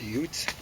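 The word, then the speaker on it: Jutes: And the Judes that came over should be we should pronounce that UTS or UTS. And uh that would be Yutland.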